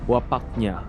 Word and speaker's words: Wapaknya: You got Neruth, you got Muda, you got Vicky, the Hunter King Laran, and Wapaknya. I hope I pronounced that right. Oh, you pronounce it correctly and with the proper accent as well.